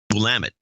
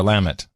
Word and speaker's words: Willamette: up right just always order wine from the Willamette Valley because that's how you pronounce it blam it yep we're Lam it because I've been I've cruised to that area